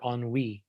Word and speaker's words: ennui: hop to the most effective non-pharmaceutical treatments for enwy which is a kind of a french term